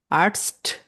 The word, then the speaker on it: Arzt: আর্টস, আর্টস, আর্টস্ট, লাস্টে আবার একটা টি আছে।